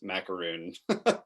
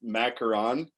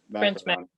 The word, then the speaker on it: macaron: blog on so i always thought it was pronounced macaroon yeah yeah so you said it's macaron macaron gotcha so yeah i i am consistently learning